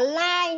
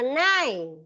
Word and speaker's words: nine: Không đọc là lai nhá, đọc là nai.